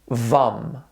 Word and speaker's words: Vam: chakra the sacral chakra the seed Sila will be will be vam sounds something like this vom our third chakra will